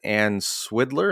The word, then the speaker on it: Swidler: so early in the book you cite sociologist ann swiddler is that how you say her name yes